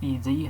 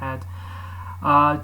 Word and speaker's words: ed: So finally I've reached quite a significant milestone in upgrading the standard Linux add text editor, or ED, how it should be pronounced, but I like pronouncing it add, to somewhat that looks like VI or Vim, and literally I'm having this visual interface.